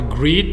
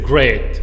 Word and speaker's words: great: C'est pas greet, c'est great. Ok? Greet, c'est saluer. Donc, ça, on le prononce great. I am great means I am very good and happy.